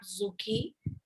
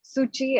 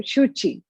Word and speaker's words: Shuchi: clarify it is not zookey many people mispronounce it if yeah so it is sochi it's a sanskrit word so in telco you probably call it as suchi and in sanskrit you'll say shuchi and uh so a